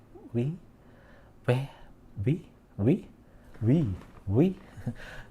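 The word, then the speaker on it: 뷔: Yep, it's read as Bue or simply in English tone V. But in Korean, they're like Bue, Bue, Bue.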